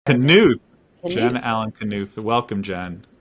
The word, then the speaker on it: Knuth: It's Knuth. It's German. Knuth.